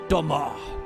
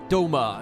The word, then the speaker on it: Doma: We're going to go to Doma. Sorry, Doma, as they now pronounce it.